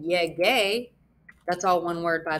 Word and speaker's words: llegué: llegamos, llegó, llegaste, and yehe. Because yehe is that soft G sound, I want it to be the hard G, so I'm going to add in that U, and I'm going to get yege.